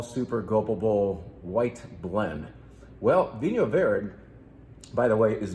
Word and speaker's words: Vinho Verde: Yes, it's not Vino Verde. It's the correct pronunciation of this wine type is Vinho Verde. Vinho Verde.